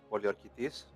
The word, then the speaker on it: Poliorketes: So, in Greek, the correct pronunciation would be Demetrios Poliokertes.